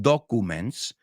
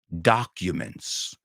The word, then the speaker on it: documents: Y cuidado, la pronunciación no es documents, it's documents.